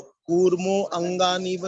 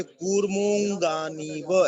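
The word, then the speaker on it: कूर्मोऽङ्गानीव: और ये अवग्रह चिन्ह जो है, इसका उच्चारण नहीं करना होता। तो कूर्मो अंगानीव नहीं बोलेंगे। कूर्मः होता तो संधि विच्छेद हो जाता, कूर्मः अंगानीव तो हो सकता था, लेकिन ये कूर्मोंगानीव ऐसा बोला जाएगा, कूर्मोंगानीव, ठीक है?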